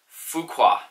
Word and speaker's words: Fuqua: my name is fuqua I have a channel called fishing with Fuqua sorry from pronouncing that wrong it's fu qu a I was wearing P